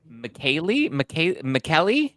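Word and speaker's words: Michele: It's spelled Michelle, but I guess it's pronounced McKaylee. I think is how you pronounce it.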